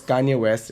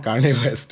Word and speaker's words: Kanye West: the finest artists in the world, I was mispronouncing his name. His name was Kanye West, and I used to call him Kanye West, okay, because I am Noida boy, which South Delhi Sarthak and Gurgaon Neetu had forgotten.